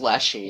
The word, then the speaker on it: Leshy: But no, it's just Leshy. It's just Leshy. It's Reshi in, like, Japanese, but Right. you pronounce the R like an L.